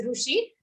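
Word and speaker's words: ऋषि: Some people pronounce rishi, some people pronounce rushi. But the actual exact pronunciation, if you want in Sanskrit, it is neither ru or ri. It comes in between.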